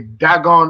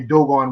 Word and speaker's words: Dagon: you could say um you could either pronounce the one away dagon or you could say dogon really because that's what they